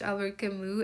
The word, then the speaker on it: Albert Camus: This man is French, French Algerian. He probably has a different way of pronouncing this, and of course, it was Camus.